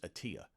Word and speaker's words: Attila: no everybody pronounces it attila but it's actually the real pronunciation i found out years later is atiya see but let's stick